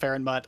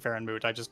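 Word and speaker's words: Feranmut: And there was so there used to be a lot of different Farenmoots on Terra, and I know it's pronounced Farenmut. I'm sorry, I'm so used to saying Farenmoot.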